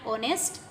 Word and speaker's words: honest: Again H is silent. O is the sound.